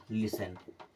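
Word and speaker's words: listen: टी को नहीं पढ़ेंगे और यह हो जाएगा लिसन क्या हो जाएगा लिसन टी स के केस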